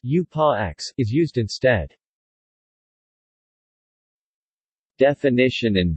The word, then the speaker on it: Ursprache: Occasionally, the German term Ursprache from primordial and Sprache language, pronounced U-pa-X, is used instead.